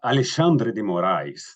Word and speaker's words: Alexandre de Moraes: well yes and uh Alexandre de Moray and that's the way the Brazilian tend to pronounce his name uh uh is a